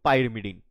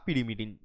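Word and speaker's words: pyrimidine: পড়বো সেটা হবে কি পাইরমিডিন বা পিরিমিডিন যে যেমন করে উচ্চারণ করো তোমরা উচ্চারণ করতে পারো জাস্ট এ সেকেন্ড এখানে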